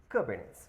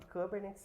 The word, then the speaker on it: Kubernetes: Eles falaram que Kubernetes se lê como Kubernetes, né? O nome correto, a forma correta de se pronunciar é Kubernetes, tá? Por que Kubernetes? Porque na verdade vem do grego, né? Que seria Kubernetes, né? E não seria nem Kubernetes, tá? Que seria o piloto do navio, né?